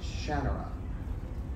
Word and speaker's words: Shannara: It's Shannara.